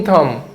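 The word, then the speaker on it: thumb: have a green थम नहीं बोलना इस बी साइलेंट है ठीक है हैव अ ग्रीन थम बा का शौक होना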